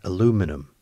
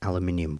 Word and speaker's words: aluminium: we are looking for an aluminum or an aluminium washer depending on how you say it this is the